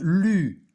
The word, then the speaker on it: lus: C'est pas je lis ou je lo. Je lus.